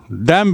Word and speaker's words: damn: डैम with him, डैम with that fellow. DAMN और उच्चारण है डैम। ना जो है साइलेंट है।